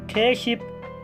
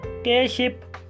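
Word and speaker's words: 깻잎: ये लिखा हुआ है खित इप, लेकिन इसे प्रोनाउंस करेंगे खेशिप, केशिप, केशिप।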